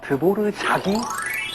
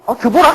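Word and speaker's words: Dvořák: 그래서 우리가 흔히 아는 작곡가 드보르자기 R만 쓰는 겁니다. 우리가 그냥 흔히 드보락 아닌가? 라고 하는 그런 단어도 드보르자기 됩니다.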